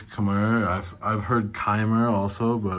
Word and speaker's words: Khmer: They pronounce it in Thai, they pronounce it Khmer. To be honest, I'm not sure how they even pronounce it in English, but I think it's Khmer.